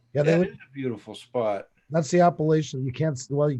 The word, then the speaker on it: Appalachian: the region Appalachia but it's like a hard sound instead of a show it might just be